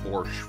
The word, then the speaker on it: borscht: sounds wrong but I I accept and will pronounce it borscht from that is not very cash rubles